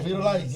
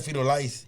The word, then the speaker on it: firulais: It's spelled FIRULAIS. Fetal lace? Like Fetal Frito lice. lace? No. Fetal Lice. LAIS.